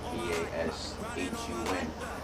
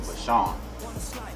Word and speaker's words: Vashun: So, and I just put the spin on it of how I spelled it, V-A-S-H-U-N. And 3-4 months now, it's just funny because a lot of people pronounce it Vashun, which is not, I don't even know why